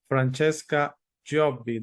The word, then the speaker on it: Francesca Giobbi: today to have another guest and we have Francesca jobby did I pronounce that correctly yes Francesca jobi jobby okay